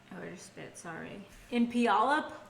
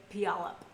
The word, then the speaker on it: Puyallup: And she was raised by her mom, so a single mother, in Puyallup, Washington. I think that's how you pronounce it. Looks right? Puyallup.